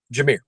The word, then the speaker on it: Jahmyr: Jameer.